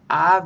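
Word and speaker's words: אב: Av means father, haha. A-B is the spelling, but you pronounce the B softly.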